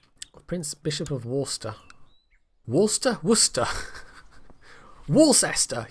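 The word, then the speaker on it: Worcester: Bishop of wer wster Worster Wester yes it's Wester that's how you pronounce it some English place names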